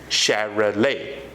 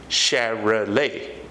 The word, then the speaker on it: Chevrolet: satellite is not the correct pronunciation the correct pronunciation is Cheryl a Chevrolet come on repeat after me Chevrolet okay it's Chevrolet it's the name of an automobile the next